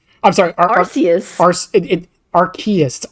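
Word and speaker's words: Arceus: Archus. R plus chaos. Oh, I thought it was Arus. Yeah, it's it's R plus chaos. It's It's R as in like arcane and then chaos.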